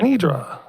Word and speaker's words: Anidra: Sorry if I mispronounced it. Is it Anedra? Anedra? Sorry. Nidra. Hi, my name is Anedra.